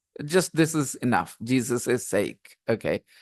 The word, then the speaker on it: Jesus': Jesus' sake. Okay, we pronounce it the same way. Jesus' sake.